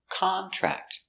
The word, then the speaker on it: contract: Here, contract is a noun. So the stress on the first syllable, contract.